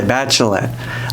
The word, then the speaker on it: Batschelet: To this day, you still don't know how to say Batchelet. Like bachelorette, but without the er.